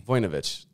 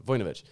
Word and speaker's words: Vujnovic: Vujnovic. I pronounced the O too much on that one. Vujnovic.